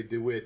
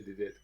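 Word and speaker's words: de Witt: saying there are options Johan DeWitt or probably David but it's spelled the wit d-w-w-i-t-t so let's say the uh the we we Anglers can can say DeWitt and everyone from uh Netherland has to say did it yeah so as as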